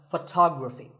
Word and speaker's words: photography: next word is photography we say photograph but photography so the first syllable becomes and the stress goes to the